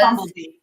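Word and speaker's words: Bambleby: Because Bumblebee. Bumblebee. Yeah. Okay. I just call him Bumblebee. Yes, that was my answer. It's supposed to be a homophone of Bumblebee.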